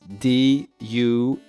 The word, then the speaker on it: DualAeon: And then it's Instagram, and it's DualAeon. So the hard to pronounce name. I think that Dual Aeon. right. That's the phonetic.